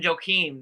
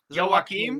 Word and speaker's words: Joaquim: Because Wakium or Joakim, and it's not even Joakim because they were saying it proper, and I tried to remember how to say it. Joaquim?